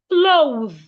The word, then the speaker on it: clothe: Remember, your tongue must be outside and ensure you can feel vibration.